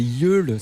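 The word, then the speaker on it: Yeule: À l'instant, c'était Yul, ça s'écrit Y E U L E.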